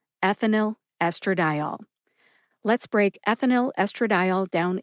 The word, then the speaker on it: ethinyl estradiol: the correct pronunciation is ethinyl estradiol. Ethinyl estradiol. Let's break ethinyl estradiol down into syllables. Ethinyl first. Eth, like death. I, like the short I sound in the word president.